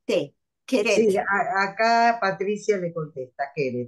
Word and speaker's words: Keret: Acá alguien pregunta cómo se escribe el apellido del autor con K, K-E-R-E-T, Sí, Queret.